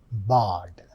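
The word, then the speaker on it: Bad: Is this isim habenimb harima mb b a d don't get mixed up with English pronunciation bard. That is the pronunciation.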